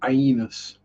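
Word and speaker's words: aeneus: Um, yeah, the ones in there are just your bog standard Aenus. And yes, I do pronounce the E in that. The albino Aenus.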